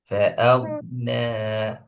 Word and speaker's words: فأغنى: திருப்பி ஃபஅக்ன, அலிஃப உச்சரிக்கணும், ஐனை கலக்கப்படாது.